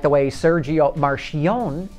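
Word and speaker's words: Marchionne: like the way Sergio Marion pronounces his name I used to pronounce it marioni until I learned he pronounces it Marion and I know this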